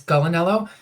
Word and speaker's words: Gulinello: your name correctly gulinello yeah yeah there there's a big family battle as to how it should be pronounced it's either gulan or it's galanello and so either of those works fine gotta um so I